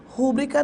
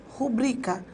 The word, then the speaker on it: rubrica: E, na verdade, rúbrica não existe. Solicitei a cliente sua rubrica. Sílaba tônica é o bri, portanto, não há acento, mas existe a sílaba tônica.